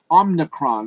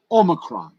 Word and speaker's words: omicron: texas legends and the rep and raptors 905 omnicron not omnicron for giving me the uh pronunciation that i needed oh necron omicron sounds like something you'd see on star trek